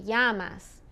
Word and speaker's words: llamas: when it's Double L Double L sounds more like a y like we've already heard in como te llamas double El como te llamas okay and yay is a